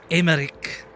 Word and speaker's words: Emmerich: Oh, I'm Emmerich. That's how you pronounce it.